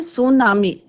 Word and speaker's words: tsunami: इसमें टी जो है बच्चों साइलेंट रहता है. सुनामी, सुनामी इज a Japanese word, Japanese word है.